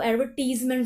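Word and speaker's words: advertisement: इसको हम एडवर्टीज नहीं पढ़ सकते, एडवर्टाइज पढ़ते हैं। लेकिन जब वो MENTS लिखा हो तो वो एडवर्टीजमेंट हो जाता है। समझ रहे हैं, यहाँ प्रोनाउंसिएशन कितनी डिफरेंट है। यहाँ पर भी एडवर्टाइज है, लेकिन यहाँ पर ये एडवर्टीजमेंट है, तो इस बात को याद रखना।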